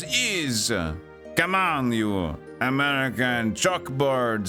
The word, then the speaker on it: Ys: is a different place okay we're going was wise yeah you stupid Americans always think is is pronounced Wise It's not Wise It's is come on you American chalkboard shut up uh